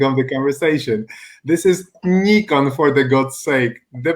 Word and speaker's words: Nikon: Because my friends from the United States pronounce the name Nikon like Nikon, and something like Nikon does not exist. And that is my favorite subject of the conversation. This is Nikon, for the God's sake.